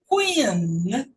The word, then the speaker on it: Queen: Ian, no final, Queen. Queen. Aqui do lado, eu não fecho, ó. Queen. Pronuncia com lá em cima, ó, na estradinha da boca, ó.